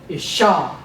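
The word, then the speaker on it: אישה: This dot in the sheen is a doubling dot, meaning there are 2 sheens. So that would be isha, woman or wife.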